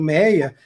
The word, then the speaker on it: Méier: dada Augusto Duque Estrada Meyer e se pronuncia essa pronúncia do Méier era com Y né e depois da Maia exatamente falar E ai né Pois é o Y né as pessoas não pronunciavam Maia vou mostrar o meia e aí com o tempo houve a liberação tiraram isso assistiram pelo ir e o bairro acabou se chamando pelo Méier e não como um